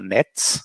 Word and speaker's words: NATS: we are also installing uh nets it's spelled nats that is an open